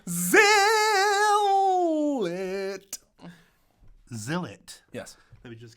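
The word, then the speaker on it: Zhillet: Maybe it looks like it should be pronounced Gillet. That would be wrong. Okay, sorry, it's Zillit.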